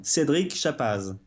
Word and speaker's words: Cedrick Chappaz: Yeah, so in French pronunciation is Cedrick Chappaz. So just say Cedrick, it's fine.